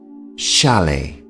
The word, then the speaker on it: chalet: house is called a chalet the t here at the end of the word is silent chalet and because they are